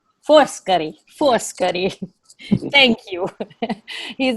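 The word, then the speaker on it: Foscari: and by the way you have to say first curry force curry force curry thank you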